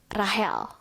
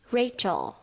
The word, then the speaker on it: Rachel: Nomor 1, Rahel. Seharusnya Rachel.